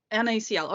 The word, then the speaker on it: NaCl: NACL. Okay, so you just have the individual letters.